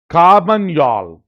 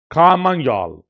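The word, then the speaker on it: Carmagnole: कारन योल यल पढ़ते हैं पीछे काम योल ये एक डांस का नाम है जो आपको याद रखना परीक्षा में बहुत इंपॉर्टेंट है काम योल काम योल एन वगैरह नहीं प्रोनाउंस होता है तो काम योल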